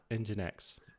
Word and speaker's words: Nginx: Um It just so happens they have this Nginx? Nginx. Am I saying it wrong? All right. I don't know. You're saying it You're saying it great.